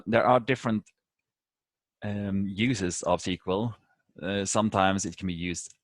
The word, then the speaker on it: SQL: analyzing data bases is abbreviation SQL but it's pronounced sequel and it stands for